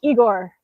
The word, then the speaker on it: Igor: Uh, Igor as I see you like Russians because you pronounce my name correctly. It sounds like Igor.